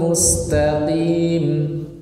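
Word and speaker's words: مستقيم: Maka tidak boleh diucapkan seperti ini, Pak. Terkadang ada yang membaca seperti ini. Ihdinas siratal mustaqim. Nah, tidak, yang betul berkurang. Ihdinas siratal mustaqim. Mustaqim, bukan mustaqim.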